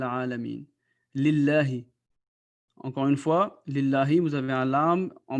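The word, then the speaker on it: لِلَّهِ: Encore une fois, lillahi, vous avez un lam en bas duquel vous avez un zér ou un kasra. C'est pour ça que ça va être prononcé lillahi.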